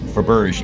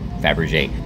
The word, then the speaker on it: Fabergé: In the guide, there's a thing, traveling the world with, okay, it's not, well, it's spelled correctly, but it's Theo Faberge in the guide, but it's actually Theo Fabergé.